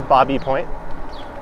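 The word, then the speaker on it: Baby Point: area straight ahead is bobby point spelled like baby pronounced like bobby i think that's some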